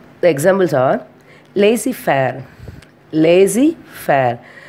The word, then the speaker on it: laissez-faire: Lazy fair. The spelling is LAISSEZFAIRE, but we are pronouncing as a lazy fair.